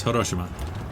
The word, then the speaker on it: Hiroshima: Why did I say it like it? It's Hiroshima. Why do I say it so weird?